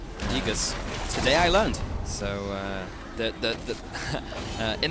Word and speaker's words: Aegis: AE is pronounced E. Aegis.